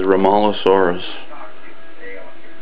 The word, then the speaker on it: Rhomaleosaurus: this I think I'm pronouncing it correctly as ralos saurus so One of the